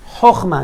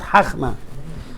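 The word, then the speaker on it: חכמה: Here I have the kamatz a little bit bigger, so I know it's chochma, not chachma.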